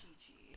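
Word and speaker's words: Qiqi: Because it's spelled Kiki. And you... But she says it's Chi-Chi.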